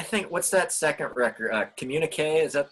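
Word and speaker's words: Communiqué: Communique. Is that how you say it? Communique? Yeah, Communique.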